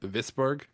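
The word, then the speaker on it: Wisborg: Yeah, and I think it's pronounced Visburg.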